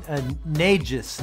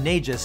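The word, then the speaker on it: Nečas: gonna call him marty the last name is like very cause it's spelled m-e-c-a-s but the way that the announcers pronounce his name is uh um negis niges uh that's just how they pronounce it he took a clean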